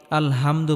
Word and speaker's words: الحمد: এখানে আমরা বড় হা উচ্চারণ করব। গলার মধ্যে হালকা চাপ দিয়ে উচ্চারণ করতে হবে। আমরা অনেকেই আলহামদু পড়ি, আলহামদু এটা হবে না, আলহামদু হবে।